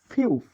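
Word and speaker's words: 피읖: তারপরে এটি হচ্ছে ফিউফ, এটি ফিউফ, এটি ফিউফ, ফি উফ, ফিউফ। ফিউফের উচ্চারণ প্রথমে ফ, প্রথম থাকলে ফ, মাঝে থাকলে ব, নিচে থাকলে প উচ্চারিত হয়।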